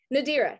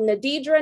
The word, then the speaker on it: Nadira: yep that's my name three syllables seven letters but people mess it up ten times just the same i get called nadidra nadiran adria ladira and so let me sound it out phonetically for you to hear it's na dear uh think of deer put nuh at the beginning and uh at the end that's it yup you got it